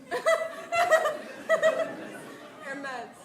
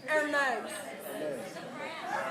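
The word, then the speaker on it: Hermès: spent money on Hermes. I didn't even know what Hermes was. Luxury bags. Her meds. They're Yeah, they're Are they men's? Hermes. It's pronounced.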